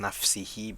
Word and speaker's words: نفسه: In the first example, nafsihi is pronounced nafsihi because it is majroor. Fi is a harf jar. And in the second example, nafsahu, it is nafsahu because it is mansub.